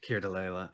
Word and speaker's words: Keir Dullea: I've never pronounced Here's Alea, yeah. Keir Dullea, like, y- Alea, yeah.